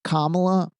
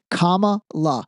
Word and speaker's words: Kamala: If think about if Kamla I'm sorry, Camala I God man her name is tough to remember how to pronounce properly. Kamala.